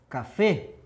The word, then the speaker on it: café: Peguei a palavra café. Ó, E fechado também, mesmo com acentuação.